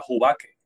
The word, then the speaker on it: Jubaque: una variedad de oveja, que se pronuncia Jubaque, se escribe como Jubaque.